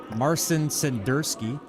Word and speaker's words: Marcin Senderski: I can start pronouncing it the American way. Marcin Senderski.